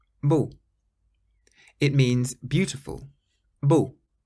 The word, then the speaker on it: beau: Some people have a little bit of difficulty with this word because it does sound a little bit like bon. So bon is good, beau is beautiful. Bon, beau.